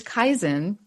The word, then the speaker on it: Kaizen: Yeah, so it's Kaizen, which was actually, I'll tell you a very brief history of what Kaizen is.